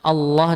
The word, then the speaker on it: Allah: Bukan O tapi A. Kalau bacanya Allah dengan O, Allah, Allah. Karena nggak ada lafadz O. Ya, adanya A.